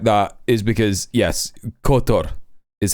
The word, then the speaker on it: Qatar: Uh, the only reason that I pronounced it k like that is because yes, cotto is how you pronounce it.